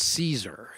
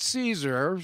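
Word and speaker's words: Casor: name was John and I'm gonna think it's pronounced Caesar but it spells ca SOR now he was a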